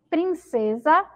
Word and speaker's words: princesa: tenho som desse né Tem um som de z que é o mesmo